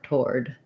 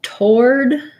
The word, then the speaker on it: toward: the door toward um the w is kind of a little bit there because if i have a schwa here and i'm going from the uh to the o that glide that gliding w sound comes in when i'm blinking from vial to vowel i think if you say tord toward yeah okay you may or may not have a w basically this is probably the